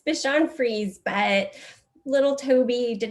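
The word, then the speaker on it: Bichon Frise: free say i forgot to ask how to pronounce the breed of dog how do you say that dr charlotte it's bishan freeze but little toby did not survive the pandemic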